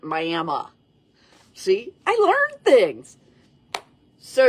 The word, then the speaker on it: Miami: And I did a little in the Myayma area, which is spelled like we would say Miami, only they pronounce it Myayma.